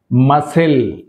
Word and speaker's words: muscle: మజల్ మజల్ right so ఇక్కడ సి అనేది silent మజల్